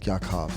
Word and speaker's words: Yaakov: My friends call me Yaakov, but... Yeah, they don't call you Jake? No. Nobody? No, they mispronounce Yaakov.